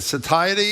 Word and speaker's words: satiety: Satiety is how you say it is what I'm referring to.